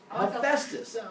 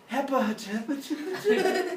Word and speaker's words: Hephaestus: Now, the first two letters of the word phone are PH. So, hopefully, if you've seen a phone, you're like, it makes a f sound, just like in Hephaestus, it makes a f sound, so it's pronounced Hephaestus, not pronounced Hepatitis, where it sounds like you got a stroke halfway through saying it.